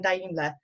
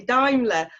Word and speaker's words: Daimler: We've got no other than Daimler. Sorry, I've said that wrong already. Daimler on with us. That's the one. Everyone mispronounces it, so you're fine.